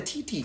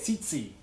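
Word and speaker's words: tsetse: How do you say it? Tsi-tsi. It's the T is... How? Why is it funny when I say TT, but it's not funny when you go Zizi? Tsi-tsi. It's like it's a TS.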